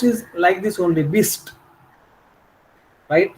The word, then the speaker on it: bist: बट नाउ इफ you pronounce इज like this only, बिस्ट, right?